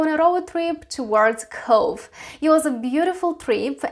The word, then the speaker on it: Cobh: i found out that bh is pronounced as v as in irish language so this tone is pronounced as cove as in drove for